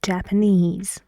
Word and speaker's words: Japanese: words with ease that the stress goes on the last syllable in the words like Japanese but in this sentence something happens this rule changes so the stress here is wrong we need to change it where does distress go yes for this sentence the right stress with the Japanese with this word is on the first syllable it's Japanese beef why why Japanese why